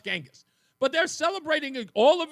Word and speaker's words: Genghis: Gangghis Khan I was like how do you pronounce it like is it Genis or Genis she goes no it's Genghis but they're celebrating all of his triumphs and